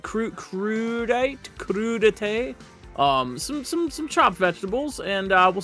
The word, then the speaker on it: crudité: Crudité? Some chopped vegetables, and we'll see what that's all about. If you're new and you don't know crudité, is that really how you say it?